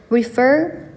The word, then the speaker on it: refer: 그래서 엄에도 refer to 두 번째 음절 refer에 강세를 두시면이 to는 좀 약하게 발음을 하시면서 please refer to the duty magazine in your seat pocket이라고 읽어 주시면 됩니다.